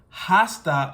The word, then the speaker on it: hasta: not pronouncing it as hasta luego but I'm saying hasta because in this case here the H is silent the H is muda